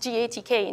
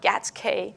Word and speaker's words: GATK: analysis toolkit and yes it is pronounced gatk not Gasquet or various other things